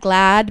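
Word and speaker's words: GLAAD: yacht somewhere um also now I know they pronounce it glad but because it has two a I always wanted to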